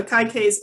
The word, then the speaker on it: Akaike: a a k okay so it was created by uh hero tagu akaike um and so yeah so akai k's information criteria is what that aic's stands